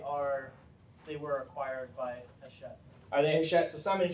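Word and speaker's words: Hachette: haset um what's that is that really how you pronounce that yeah haset it's a French company I think haset um I don't think it's Hatchet I think it's AET um I could be wrong on that most of these are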